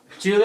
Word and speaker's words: Giulio: Giulio, I was pronouncing it right, Giulio, right? Well done. You did your homework right.